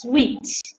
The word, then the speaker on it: suite: words so it's interesting we spell it like this as you have so yours is the correct spelling frictional but we pronounce it as sweet can you repeat Optimates